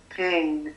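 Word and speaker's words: 苹: In the Chinese culture, the word for apples is pronounced as ping, which also stands for peace.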